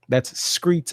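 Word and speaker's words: skreets: in these streets tomorrow screets s-k-r-e-e-t-s that's how they say it the kids say it now but hopefully we're crowded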